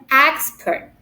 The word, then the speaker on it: expert: first syllable for example the word expert it has two syllable expert and if it refers to a noun we put the stress at the first syllables for example expert not expert but expert okay this is a